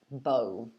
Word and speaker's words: bow: um we call this bow as well so they're all pronounced bo these ones um some